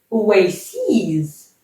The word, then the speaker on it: oases: Oases, tout le temps. Faites attention à la prononciation du pluriel. Oasis, oases.